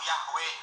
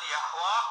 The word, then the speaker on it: Yahweh: Kadang dilafalkan keliru Yahweh, padahal orang Yahudi sendiri tidak pernah melafalkan Yahweh. Yang betul Yahwa atau Allah, Yahwa atau Yehova pelafalannya. Coba kita tengok, kita lihat